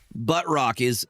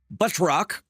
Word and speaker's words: Batroc: Buttrock is correct. That is the correct pronunciation. Buttrock.